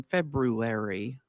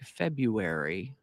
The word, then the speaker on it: February: do you pronounce it some people lean hard into that first r as in February others sort of ignore that first R and lean into the U like February hopefully you'll be relieved